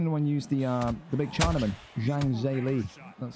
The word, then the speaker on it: Zhang Zhili: Zhang Zhili.